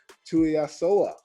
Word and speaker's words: Tuiasoa: Today, we're talking to Tuiasoa. What's going on, my man? Did I get it right? That's it, right? Hey, you got it right, man. Tuiasoa, man.